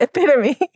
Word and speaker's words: epitome: And we're like, so that is pronounced epitome.